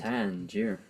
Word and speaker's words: Tangier: Tangier.